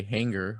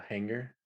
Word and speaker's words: hanger: i recently found out i say hanger like with a hard g hanger oh like like a wire hanger yeah yeah what do you say a hanger hanger yeah like i don't know some people say this some people say the g in a more subtle way more subtle he did it on purpose but yeah some people would say a soft g so i recently i found out that i say hard g but yeah well i